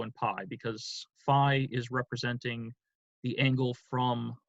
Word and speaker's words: phi: I've heard students pronounce Phi as the arm linguistically that's actually probably correct I believe Greek pronunciation would be fee but then Greek pronunciation